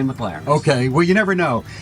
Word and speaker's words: McLaren: I say McLaren, but at the dealership they say McLaren.